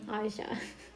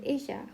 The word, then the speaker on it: Isha: By the way, I was pronouncing the name very wrong. I mean Isha, because I was saying Aisha.